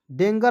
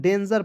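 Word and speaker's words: danger: आर क्या पढ़ेंगे डेंजर डेंगर नहीं पढ़िए दोस्तों डेंजर पढ़ जाएगा क्योंकि यहां पर देखिए जी से तो तो ग होता है ठीक है बेसिक इंग्लिश में लेकिन क्या होता है जब हम लोग बुक रीडिंग करने जाते हैं वहां पर जी का प्रयोग जो है कभी-कभी ज के रूप में भी करते हैं तो यहां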